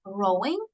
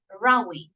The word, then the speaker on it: rowing: Remember, I told you about the difference in pronunciation. So this, in this case, is not rowing, but rowing. Okay, refers to like shouting, fighting, loud conversation. So it's rowing.